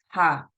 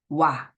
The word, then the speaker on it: は: So when we use ha as a particle, you cannot pronounce this ha, but you need to pronounce it wa.